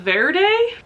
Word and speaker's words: Verde: For the general challenge, I read The Hollow by Jessica Verde. It sounds like I'm saying green in Spanish really white, but that's not how it's spelled.